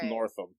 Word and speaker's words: Northam: little bit longer to enjoy the catalog Ralph Norton northen Ralph these sound races I only care about mispronouncing his name Ralph Northam so on the 3rd of February four more